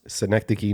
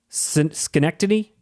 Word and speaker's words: Synecdoche: Synecdoche. Say it one more time, Russ. Synecdoche, New York. Schenectady?